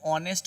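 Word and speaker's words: honest: ऑनेस्ट भले ये एच से शुरुआत है लेकिन इसका प्रयोग जो करते हैं वो ऑनेस्ट होता है मेरा। यहाँ पे देखिए ऑनेस्ट लिखा हुआ है, ओ से उच्चारण हो रहा है, अर्थात ये स्वर वर्ण है।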